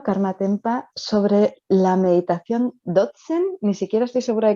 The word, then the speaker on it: Dzogchen: mm, Dzogchen, o depende quién lo pronuncie, Dogen, Dzogchen, ujú, pero fundamentalmente Dzogchen, o Mahamudra, dependiendo de la escuela mm, budista, Dzogchen o Mahamudra.